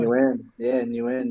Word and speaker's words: Nguyen: So for me, I just stick to what I know, and it's new end. I guess as long as people don't start pronouncing the G and stuff like that, it's like, you know what, close enough.